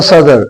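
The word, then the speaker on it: صدر: सद्र यानी साद के ऊपर ये ज़बर है और दाल और रे जो है ये साइलेंट है, इस पर न ज़ेर है, न ज़बर है, न पेश है।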